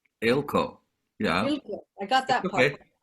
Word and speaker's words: Eelco: to introduce ilco to guest who i it pronounced your last name right ilco yeah i got that part yes um i